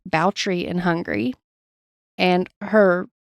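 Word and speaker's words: Báthory: the episode Elizabeth's last name B is actually pronounced boutry in Hungary and her name was zabet but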